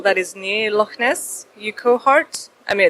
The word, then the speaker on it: Urquhart: How do you pronounce Urquhart Castle? The castle that is near Loch Ness? Urquhart? I mean, it's my accent, please. Wait, which one? Urquhart Castle. There's Urquhart.